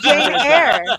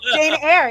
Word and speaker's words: Jane Eyre: Can you pronounce it correctly? Jane Eyre. Jane Eyre.